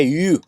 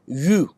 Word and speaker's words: eu: है जिसे बोलते हैं यू। इसको EU लिखते हैं पर प्रोनाउंस करते हैं यू।